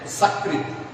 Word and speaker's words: सकृत: एक शब्द लेते हैं सकृत, दंत स से सकृत बोलते हैं, और तालव्य श से यदि हम शकृत बोलते हैं, शकृत सकृत यदि उच्चारण करते हैं तो अर्थ देखिए, अर्थ की भिन्नता कैसे होती है।